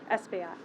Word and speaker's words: Espaillat: I will be followed by Congressman Adriano Espaillat. Pronounced that right.